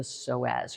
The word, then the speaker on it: psoas: This crazy muscle is the soaz. You might have heard of it. It's spelled a crazy way. P S O A S.